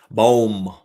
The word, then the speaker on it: Bohm: My next guy I'm curious about is Alec Bohm. Bohm? How do you say it? Boom, boom, boom, boom, boom, boom, boom, boom. That's how I say it.